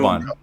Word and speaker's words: Boban: You guys know Boban. You guys know who I'm talking. Eric, it's Boban. Can you pronounce it?